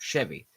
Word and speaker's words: Chevy: an sh it's a CH Chevy but it's pronounced Chevy for those idiots who don't know anything about